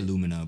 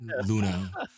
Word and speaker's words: Luna: I keep saying their name wrong. I say Lumina, but Luna.